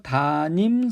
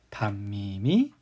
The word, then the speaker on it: 담임: 중학교 3학년 때 하고 어떠한 게 맞는 발음 일까요 담임선생님 일까요 다님 선생님 일까요 분명 발음 하기에는 별 생각 없이 바로 하면 다 님이 좀더 편하게 느껴지는데 안나 내도 좀 이상하죠 글씨로 쓰여있는 탐험을 보면 니은 소리가 그 어디에도 표현되어 있지 않죠 네 맞습니다 담임이 맞는 발음이 되겠습니다 자 우리는 요번 단어를